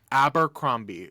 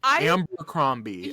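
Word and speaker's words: Abercrombie: Amber abber cromie y'all I grew up saying it wrong and my parents never corrected me and now I'm well into adulthood and don't know how to say it I always put an m in there Amber cromie I remember having this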